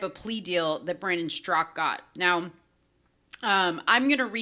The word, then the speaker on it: Straka: strzok by the way the a in his name is silent uh i hear a lot of people say straca it is strzok may find himself in